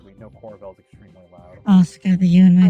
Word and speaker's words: Asuka: Asuka, the you and my name is silent.